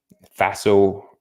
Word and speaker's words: FASO: is the Faso method Faso rhymes with lasso and it's Faso and it really helps